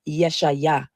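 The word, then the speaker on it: ישעיה: The funny thing about the name Isaiah is many people don't know that the true Hebrew pronunciation of Isaiah is Yeshaya or Yeshu.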